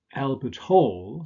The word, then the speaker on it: Albert Hall: the first combination is Albert Hall stress on the second element why because this is a place name and we said that with compounds that are place names we usually stress the second element as in Boston Harbor